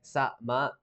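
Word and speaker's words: さま: And sama sounds like sa-ma, with sa like the sign salsa, with like a little bit of the tack at the end.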